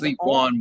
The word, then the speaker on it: Ligue 1: No, it's League 1, but like league because yeah.